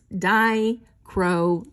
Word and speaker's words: dichroic: how i say it so it's die crow like the crow and ick so very cool thank